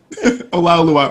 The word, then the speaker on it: Olaoluwa: Olaoluwa. Olaoluwa, or you can say roast beef or Olaoluwa. I did it right.